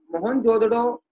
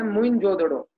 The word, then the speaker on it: मोहनजोदड़ो: मोहनजोदड़ो का जो सही प्रोनाउंस है वो है मोइनजोदड़ो।